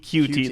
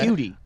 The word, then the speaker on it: Coutee: looked it up, and it is Keke Coutee. That's how he wants us to pronounce it, apparently. Cutie. All right, cute. So there you go. Yeah, I would say... Like a Q-tip? Like QT? I think so, yeah. Like Q-tip, but QT. Okay, Sure.